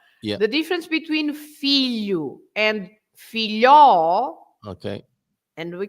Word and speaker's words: filho: So the general rule is you stress the first syllable, right? So you stress the first syllable, so that's why you say filho.